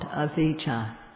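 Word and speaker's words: avijjā: dispelled and not knowing in pali is called avija a v i j j a long a this is not knowing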